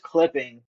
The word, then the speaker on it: clipping.: So, uh, it's pronounced clipping.